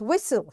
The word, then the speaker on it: whistle: This is silent T and the word is whistle. Here T is silent.